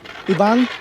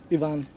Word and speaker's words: Yvonne: ivan or ivan yvonne how do you pronounce it yvonne see he's a nice guy because if you pronounce his name wrong he says ed's fine it's not fine his name's yvonne okay yvonne where you